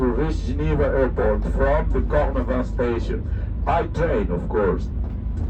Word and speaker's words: Cornavin: Please do not word ending with I and N. Pronounce it instead of in. So this is the reason why it is Cornavant and not Cornavin.